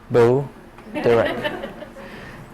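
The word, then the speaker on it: Bo Derek: sex symbol who is boere how do you pronounce it Bo B direct so Mars Mars in uh in Pisces in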